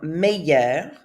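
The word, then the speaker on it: meilleur: going to say so that's how it's pronounced in the masculine form meyer and the feminine form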